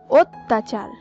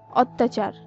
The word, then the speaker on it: অত্যাচার: এই হিসাবে এরপর রয়েছে অত্যাচার, অত্যাচার শব্দের সঠিক উচ্চারণ হবে অত্যাচার। এখানে লক্ষ্য করুন, আমরা বেশিরভাগ সময় বলে থাকি অত্যাচার, এটি কিন্তু সঠিক নয়, সঠিক উচ্চারণ হবে এই অয়ের স্থানে ও, অর্থাৎ যখন আমরা অত্যাচার